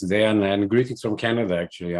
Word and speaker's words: Dejan: Sorry, because I don't know the correct pronunciation. Dejan, Dejan, Dejan, please welcome. No problem at all. It's Dejan. It's Dejan, and greetings from Canada, actually.